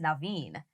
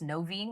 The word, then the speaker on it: Noveen: So people will see it and think it's Noveen, which is totally fine. But correct pronunciation is Naveen.